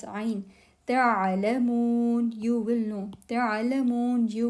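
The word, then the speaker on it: تعلمون: So when you say this Ain with jazm, with sukoon here, do pronounce it. Don't say it's not Hamza, it's Ain. Ta'alamun, you will know.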